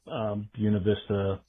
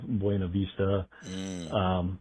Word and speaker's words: Buena Vista: Buena Vista instead of Buena Vista, Pofftown and the like.